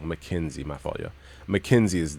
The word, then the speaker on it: McKinsey: McKinsey.